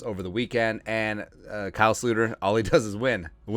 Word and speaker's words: Sloter: Yeah, I fully understand that our love for Kyle, Jerome, Ezekiel, Sluter, it's a Dutch pronunciation.